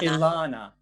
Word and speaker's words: Elana: It's like a long Ilana. E. Yes, Ilana. Ilana, right?